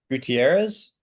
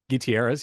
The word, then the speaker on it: Gutierrez: Gutierrez? Gutierrez, yeah. There it is. That is spelled like it's like a very common last name.